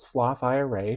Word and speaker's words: Sloth IRA: a IRA savings challenge it's called sloth Ira to rhyme with Roth IRA but even if you're